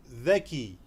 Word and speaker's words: ذكي: Intelligent is known as ذكي ذكي ذكي. You have to take out your tongue in between your up and down teeth, touching up and down teeth, and you're gonna pronounce this letter of the.